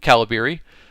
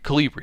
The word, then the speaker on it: Calibri: for your font or caliber um or calibri calibri is how you say it um and that's really